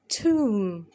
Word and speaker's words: tomb: مقبرة Tomb Tomb Tomb. مقبرة Tomb Tomb Tomb. البي اللي في الآخر منطقهاش.